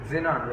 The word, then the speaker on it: Xenon: X is pronounced Z. Xenon.